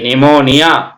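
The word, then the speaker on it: pneumonia: நிமோனியா பி என் இம் ஓ என் ஐ ஏ நிமோனியா பி எஸ் ஒய் சிச் ஐ ஏ டி ஆர்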